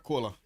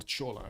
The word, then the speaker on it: Chola: There's this guy, Rajendra Kola. Yeah, or Chola. How do you pronounce this? Is it Chola or Kola? Kola.